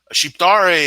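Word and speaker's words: Shqiptar: happen all right big man how do you pronounce cheap dari and what does that mean sheathe re is an albanian person like Donny would not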